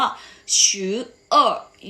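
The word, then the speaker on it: 十二月: สุด ท้าย ของ เรา ออก เสียง ว่า ชื้อ เอ้อ อยู่ และ ชื่อ โอ เวด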